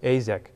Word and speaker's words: Azek: And one of the things I want to talk about first is Azek. Is that how you pronounce it? Azek. Azek.